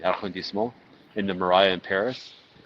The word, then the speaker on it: arrondissement: into their apartment in the 4th arrondissement, not pronouncing that correctly, arrondissement, in the Marais in Paris.